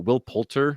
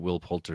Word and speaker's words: Poulter: But I will say that Will Poulter, is that how you say his name?